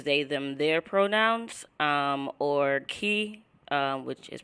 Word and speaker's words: Kei: I use they, them, their pronouns, or Kei, which is pronounced Kei.